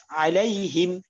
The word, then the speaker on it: عليهم: আচ্ছা, এখানে সিরাতাল্লাহ বলা হয়েছে, সি সিরাতাল লাযিনা আনআমতা আলাইহিম, হিমের এখানে হেম এরকম শোনা গেছে, হেম এরকম না, হিম হিম রসিকা দিয়ে হিম, আইলাই হিম, যাতে একার মতো না শোনা যায়।